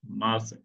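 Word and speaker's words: ます: ভার্বের শেষে এভাবে মাস, মাস, মাসু, মূলত এটা উচ্চারণ মাসু।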